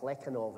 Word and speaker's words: Plekhanov: It all comes from Hegel via Plekhanov, or Plekhanov, as you're meant to pronounce it, who was a Soviet Hegelian.